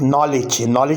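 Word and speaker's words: knowledge: माना है मतलब होना, नॉलेज में के साइलेंट है, इसी तरीके से नॉलेज में डी का लेटर ये भी साइलेंट है।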